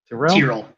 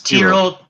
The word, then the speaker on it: Tyrrell: Which how you pronounce it, Curly? Tyrrell. It's Tyrrell.